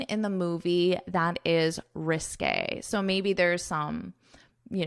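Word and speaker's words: risqué: Obviously the English alphabet does not have this accent, so we pronounce it according to French pronunciation rules, which is when you have this accent to pronounce it as a risque, risque, risque.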